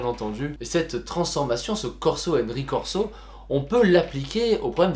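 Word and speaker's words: corso e ricorso: Alors, je le prononce très mal parce que normalement il faudrait le prononcer en italien, mais comme je ne suis absolument pas italien, je le prononce à la française, et qui explique justement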